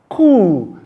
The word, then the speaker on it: coup: Many times we pronounce it as coup. It is not coup. It is pronounced coup because the p sound is silent.